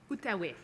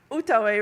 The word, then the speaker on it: Outaouais: This is the, how do you pronounce it? Outaouais. Outaouais room.